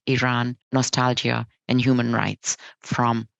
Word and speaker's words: Iran: South many people mispronounce Iran and call it Iran the right way of pronouncing it is Iran it has a population of 86 million making